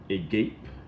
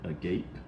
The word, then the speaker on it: agape: In English is agape. That's how you pronounce it, agape.